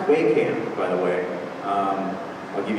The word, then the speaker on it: Wehkamp: struggling the whole life it's pronounced we can by the way I'll